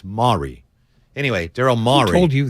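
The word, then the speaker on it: Morey: Maury yeah Mari it's actually mare it's not Moray but it's not Mori it's Mari anyway Daryl Mari told you that that's the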